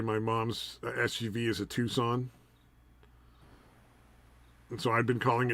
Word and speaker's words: Tucson: Pronounced Tucson, dude. I'd been calling it a Tucson for so long.